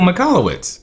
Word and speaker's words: Michalowicz: Michael Michalowicz. Yes. Yep, and I'm glad you pronounced that correctly, because I would have butchered that name.